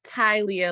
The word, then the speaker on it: Talia: Hi, it's pronounced Tylia, ladies.